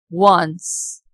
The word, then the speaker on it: once: Now look at the next examples once and one. In these two words O is producing W sound and in all other these words O is producing O sound.